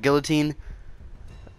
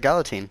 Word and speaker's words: Galatine: get over it but I say like gal teen I don't say like all tine I don't say like guillotine I don't say it like gal 18 so I say it like gala teen I say it like